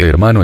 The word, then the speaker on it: hermano: formas fratello y soreya la H de hermano es adventicia y nunca se pronunció en la Edad Media